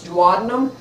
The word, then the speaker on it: duodenum: stomach we pass into the duodenum also some people pronounce dadum unless we remove the